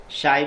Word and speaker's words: psi: ये लेटर्स को हम लोग बच्चों क्या बोलते हैं? शाई बोलते हैं। क्या बोलते हैं? शाई। यहाँ स्पेलिंग जो हो जाएगा PSI होगा।